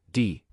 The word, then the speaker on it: 弟: The pronunciation of the character, di, is quite close to dig.